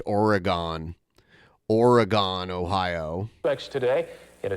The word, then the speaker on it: Oregon: Yeah, there's a place near Toledo, and it's spelled like the state Oregon, but it's pronounced Oregon.